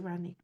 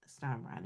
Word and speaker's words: Ronika: And I'm not saying that no, no, it's actually Ronika. It's not Ronnie. It's actually Ronika.